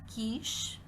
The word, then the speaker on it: quiche: therefore the given example is pronounced as Kish Kish because the sound of letter Q is cool and quiche is a